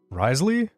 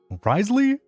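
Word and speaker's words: Wriothesley: H how do you pronounce his name? I feel like every single every single day I just like forget what you know like Ry Ry the Ry the sleigh. Risley. What? Are you for real? That's how it is?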